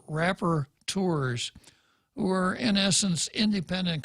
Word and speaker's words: rapporteur: until Pete called and told me how to say it and then repeated. So I got it right, and it's rapporteur. Rapporteur.